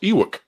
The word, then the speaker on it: Ewok: I'm pretty sure it's pronounced Ewok.